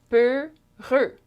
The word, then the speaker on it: peureux: Peureux. Two syllables.